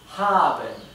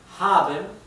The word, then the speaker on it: haben: O the haven es usted tiene, ¿verdad? se pronuncia exactamente igual, solamente que se escribe con mayúscula el de usted.